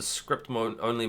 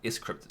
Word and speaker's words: scrypt: DigiByte originally started out as a script-only mined blockchain. Scrypt technically is how you're supposed to pronounce it.